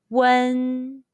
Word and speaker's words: wen: a chinese surname question when you see you and first stone and w-e-n first stone in ping in how would you pronounce them the answer is one are there any topics